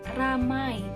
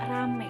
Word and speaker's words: ramai: teman-teman di sekitar saya, seperti kata ramai, tapi kebanyakan orang-orang menyebutnya dengan kata rame gitu. Nah, padahal yang betulnya kan ramai. Nah, ini termasuk perubahan bunyi diftong menjadi fonem tunggal, yaitu perubahan diftong AI diucapkan menjadi E. RAMAI ramai, tapi jadi RAME jadi rame gitu.